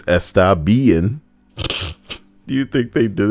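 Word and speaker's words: Estabein: clan called estabien but it's not spelled bn it's spelled b-e-i-n so it's estabean do you think they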